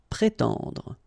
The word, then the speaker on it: prétendre: Prétendre, okay? So first accent aigu, pré, and then tendre. Prétendre.